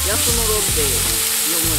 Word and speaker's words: 安室: ンプ場、安室奈美の安室って書いて安室って読むらしいです。